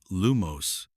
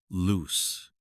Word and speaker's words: Lumos: Ron would stomp his feet each time, but Harry knew it was because Ron always mispronounced Lumos as loose.